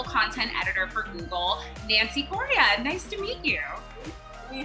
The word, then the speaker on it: Correa: So, am I pronouncing it right, Correa? Correa, yeah.